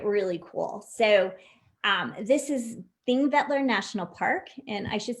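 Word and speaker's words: Þingvellir: but sometimes it doesn't but anyway this is pronounced thing that they're National Park and this is like I mentioned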